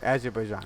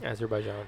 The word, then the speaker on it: Azerbaijan: Azerbaijan. Azerbaijan, yeah.